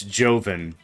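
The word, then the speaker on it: Jhonen: which it took me way too long to figure out how to pronounce that gentleman's name. It's Joven.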